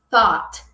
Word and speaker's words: thought: Então, vamos falar thought, thought. Depois de muito tempo saiam, mas aqui eu coloquei também a pronúncia guiada para vocês para ir ajudando, ó. Thought, thought. Falamos com esse som de ó, sabe?